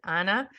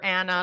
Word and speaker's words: Ana: If you only have one N, it is Anna, but in Spanish it's Ana. So I prefer Anna, like if it had 2 N's, but yeah.